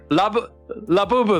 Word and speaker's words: Labubu: Every stream I mispronounce a word, man. I can't I just can't. It's labubu.